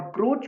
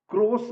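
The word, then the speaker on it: Croce: प्रभावित होता है और क्रोच का यह जो स्टेटमेंट है जो 1910 में उसने दिया था सी आर ओ सीई क्रोस ऐसे दिखता है लेकिन इटालियन में इसका उच्चारण होता है क्रोचे क्रोच 1910 में उसने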